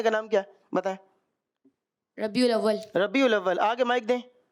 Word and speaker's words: ربیع الاول: ربیع اول۔ ربیع الاول۔ دوبارہ آگے مائک دیں۔ ربیع اول۔ ربیع اول، ربیع اول۔ ربیع الاول، اس کا جو درست تلفظ ہے وہ ربیع الاول ہے۔ پیچھے مائک دیں ذرا،